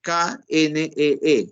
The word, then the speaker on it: knee: rodilla en inglés, knee, que en inglés se escribe K-N-E-E y se pronuncia knee.